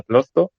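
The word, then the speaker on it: Klotho: Aquí, por lo que hemos estado leyendo, está sobre todo en relación a la proteína denominada clotho, pues sí, se pronuncia así, y a enfermedades cardiovasculares y renales.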